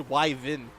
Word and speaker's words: wyvern: will die on probably well the british pronunciation is wyvin yeah but okay that's